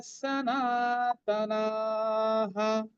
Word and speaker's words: সনাতনাঃ: সনাতনাঃ, না দুটোই দীর্ঘ হবে, যেহেতু শেষে না আছে বিসর্গটা হা উচ্চারণ হবে। আমরা কিন্তু ওটাকে হ বলবো না, সনাতনা হ বলবো না, সনাতনা হা বলবো।